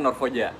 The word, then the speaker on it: Norrfoja: Cara bacanya Norfoja.